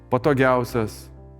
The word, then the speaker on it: patogiáusias: On the penultimate, for example, patogiáusias “the most comfortable”.